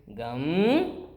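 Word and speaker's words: गं: And so what's the actual way of pronouncing it? It is gum, right?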